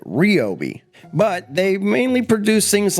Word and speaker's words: Ryobi: They pronounce it wrong, they call it Ryobi.